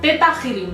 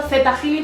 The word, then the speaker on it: ThetaHealing: mayoría de los vídeos yo he visto que lo pronuncian teta healing pero a mí me suena mal me suena a otra cosa lo de teta healing y entonces me gusta decirlo Z healing porque va con una h o sea como en